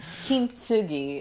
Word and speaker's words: Kintsugi: So the first thing I want to talk about is Kintsugi Wellness. Tell me how to say that, your new book. Kintsugi Wellness.